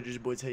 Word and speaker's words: Jerseyboiitay: It is your boy Jerseyboiitay, yes, the boy from Jersey, yes, the boy with two eyes, not a Y. T-Y is how you say the name, please.